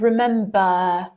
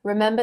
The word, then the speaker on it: remember: Remember that in received pronunciation, if a word ends with R, the R is not pronounced. In American English, you might say remember, but in received pronunciation, remember, All of these root words end with voice.